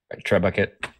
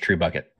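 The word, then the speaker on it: trebuchet: big like a yeah pulley or something yeah Tre bucket I mean that's the minu that I used but it's not actually Treet it's pronounced true bucket but yeah Tre Buck yes alrighty so uh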